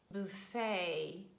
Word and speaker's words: buffet: highlight those words where letter T stands at the end of words and it is silent. These words are mostly of French origin. For example, ballet, beret, gourmet, buffet, sorbet. So letter T is not pronounced.